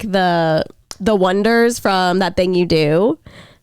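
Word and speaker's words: Oneders: Daisy Jones and leaders they're called the Wonders but like the whole joke of the movie is they're like because it's spelled like o-n-e dirs like wonders I don't know what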